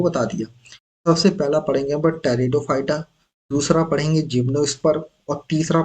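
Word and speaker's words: Pteridophyta: याद रखना आप दोस्तों टेरिडोफाइटा सबसे पहला ग्रुप इस प साइलेंट रहता है इसलिए इसको टेटो फाइटा पढ़ते है इसका नाम है जिमो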